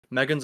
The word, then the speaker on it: M3GAN: Megan's a good film, so you pronounce it Megan.